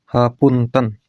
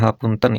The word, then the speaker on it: hapunten: Kanggo ikhwan-ikihwan sadayana sareng mugi Allah Taala maparin hapunten ya. Dibacanya ha punten ini dibacanya te bukan te ya. Ha punten bukan hapunten.